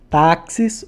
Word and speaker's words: táxis: Táxis, ou como eu falo, tá. O tá é a minha sílaba tônica.